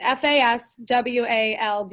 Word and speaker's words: Fasulo: like my last name, Faswaldo, like where's Waldo?